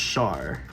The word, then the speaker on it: Char: Just just Char. Think of it like Sher without the E at the end. Not the musical artist share, but the word share.